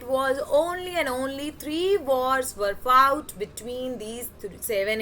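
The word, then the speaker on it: Versailles: सारी ceremony palace of वर्से में हुई ठीक है पैलेस ऑफ वर्से में ये आर साइलेंट होता है यहां पे एल बी साइलेंट होता है सो वसले वर्से जो है ये फ्रांस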